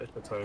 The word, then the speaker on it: epitome: I didn't know how to pronounce epitome, so it's an epitome.